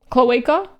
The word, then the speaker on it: cloaca: Cloacal? Whole, relax again. Cloaca? It's a, how do you pronounce, cloaca, right?